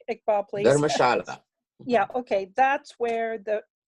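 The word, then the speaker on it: Dharamshala: And then you see Darshamla, which I'm not pronouncing correctly. Iqbal, please. Dharmashala.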